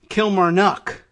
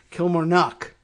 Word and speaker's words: Kilmarnock: The emphasis is actually on 2 syllables in here instead of Kilmarnock, which is where I would put it in the middle if I were in Ireland looking at Kilmarnock. It's Kilmarnock. There's 2 emphasis on the first and last syllables.